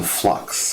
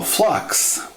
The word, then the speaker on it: flux: okay we're getting our first introduction to flux flux is spelled f l u x and it's the